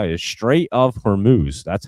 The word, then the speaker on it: Hormuz: That's how you Straight of Hormuz.